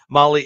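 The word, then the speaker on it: Mahle: the podcast listeners podcast listeners out there See Molly is spelled m a h l oh yeah oh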